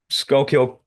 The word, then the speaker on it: Schuylkill: following from I can't even pronounce it. Skull County. Kill. There you go. Thank you. Yeah. Mhm. Schuylkill County newspaper in Pennsylvania, and it goes like